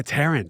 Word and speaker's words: Tarrant: Tarrant. Oh, I said your name wrong earlier. Yeah, Tarrant. Tarrant. Yeah.